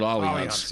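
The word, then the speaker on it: Allianz: one every i mean it's spelled like alliance but for whatever reason they call it all events yeah they're based out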